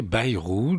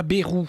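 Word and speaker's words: Bayrou: ce que monsieur Bairou, je précise qu'il faut prononcer Bairou dans la langue de ce de Bernise et non pas berou hein.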